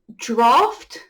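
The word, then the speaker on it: draught: So this one is draft. I know, there's no F in there, right? English spelling.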